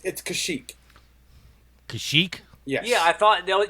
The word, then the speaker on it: Kashyyyk: It's Kashyyyk.